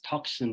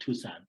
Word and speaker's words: Tucson: And I used to pronounce as Tucson because that's what I thought, Tucson, So when I came to Tucson and started studying at Catalina, that's when I realized it's called Tucson.